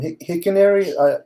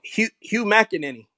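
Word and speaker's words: Hugh McElhenny: Hickenary. I'm not saying it right. Oh, Hugh McEnany.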